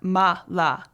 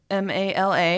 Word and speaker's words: mala: totally different meaning but usually you see it written in english as m-a-l-a and we pronounce it mala we assume that's